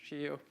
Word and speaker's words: Scio: It's pronounced Scio.